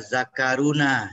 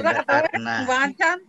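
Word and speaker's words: ذَكَرْنَا: Asal jangan dibaca zakaruna, ya bahaya itu. Bacanya jangan zakaruna ya. Tapi zakarna.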